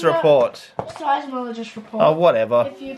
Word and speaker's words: seismologist: Somologist report. Seismologist report. Oh, whatever. If you pronounce it correctly. What did I say? Seismologist.